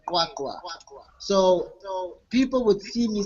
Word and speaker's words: QwaQwa: My area is called Kwakwa. It's QWA Kwakwa.